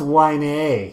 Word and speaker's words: Wiener: The Wiener Robinson Theater. It's on... and then we laugh. See, I pull it off and yeah. It's pronounced Wine A. Oh, Wine A. Not Wiener, Wine A.